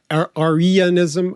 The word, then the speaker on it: Arianism: I mean, Mark Walker has written his thesis 25 years ago now on the idea of Arianism. I know I can never say it right. It's not Aryan like Germans, but there's an ancient